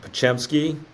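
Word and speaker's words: Podziemski: yeah I think uh Brandon uh pachemski as it's pronounced Santa Clara kid at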